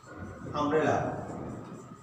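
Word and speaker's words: umbrella: যেমন মনে করো this is অ্যান আমব্রেলা। Okay, আমব্রেলা। দেখো এখানে ইউ আছে, ইউ থাকার পরে ইউর উচ্চারণ কিন্তু ইউনিভার্সিটির মতো সেখানে কিন্তু ইউ নয়, এখানে উচ্চারণটা কিন্তু ইউ নয়, এটা আ।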